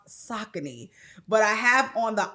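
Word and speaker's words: Saucony: For me, I have on the Sakccin. And yes, that's Sakccin, not Sakonei.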